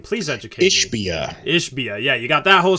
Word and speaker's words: Ishbia: Ishbia.